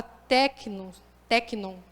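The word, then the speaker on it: τέκνον: dentro da palavra dele ele usa a palavra tecno é assim que pronuncia tecno né significa filho imaturo criança beber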